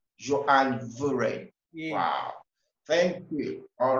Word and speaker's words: Johan Van Vuuren: i will help you it is johan fun furion but you're very close thank you you don't pronounce the you call it y you pronounce it was right johann veren wow thank you all